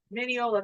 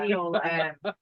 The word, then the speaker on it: Mineola: Mineola, that's how you say it. Yeah. We've been saying it wrong the whole night. Yeah. Mineola.